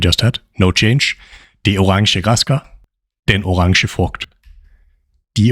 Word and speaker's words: orange: Orange. In Danish, it's spelled the same, but it's pronounced differently. Listen up here how it's pronounced in Danish.